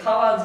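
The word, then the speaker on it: 蛙: なんですね変えると書いて買わずと読みますいいですか変えると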